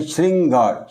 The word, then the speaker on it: श्रृंगार: हम देख सकते हैं जब उच्चारण करते हैं श्रृंगार श्री य श और ऋ की ध्वनि आती है इसलिए यहां पर रा